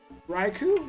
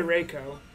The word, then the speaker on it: Raikou: I said right good raikou Reiko i don't say rico raikou that normal I don't know raikou